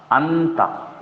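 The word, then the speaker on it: أنت: ठीक है, तो हम इसको ऐसे पढ़ेंगे, अलिफ नून जबर, अलिफ नून जबर, अन ता जबर ता, अंता।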